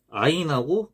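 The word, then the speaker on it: عين: 요 아인 같은 경우는 요 아인도 우리나라에서는 사용하지 않는 발음입니다. 이게 인도 소리라 그래가지고 이게 목구멍 소리입니다. 목구멍. 아인, 아인 이런 식으로 내는 거죠. 목구멍에서 나는 소리. 아인, 아인. 네, 이렇게 나는 소리입니다.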